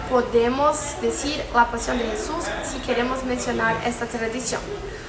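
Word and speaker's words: Jesús: Então a pronúncia fica como se tivesse escrito com dois S's, Jesus, certo? Então fica desse formato, Jesus, ou Jesus, depende.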